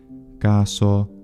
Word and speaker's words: caso: Italians, and that's because the traditional pronunciation of the S intervocalically for the majority of words is voiced, but there are several words in traditional standard Italian pronunciation that are retained as voiceless, and those include così, caso, cosa, naso, mese, riso, sorriso, of course, as well, and peso.